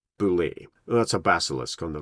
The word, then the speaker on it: Beholder: give you the Boule the Boule is pronounced Boule that's a basilisk on